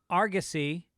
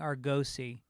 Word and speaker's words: Argosy: his name Bob Patterson says Argosy does not have a long o sound I've been saying Argosy that's a casino that